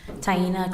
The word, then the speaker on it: Taina: thank you can you state your name and spell it please tyena t a i n a last name